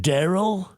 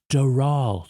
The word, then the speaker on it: Doral: They get the loan, and then Ivanka shows it to Trump, and he's like, "Well, we're buying Daryl? Who's Daryl?" "No, it's Doral, sir.